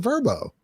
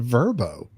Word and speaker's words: VRBO: stuff earlier today, and then they said verbo. I'm like, Verbo. what? I thought it was VRBO. Yeah, me too. Yeah, because it's the initials of vacation rental by owner.